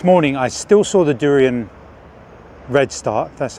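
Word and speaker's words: Daurian: river and this morning I still saw the durian red start that's how you pronounce it and the Himalayan red throat common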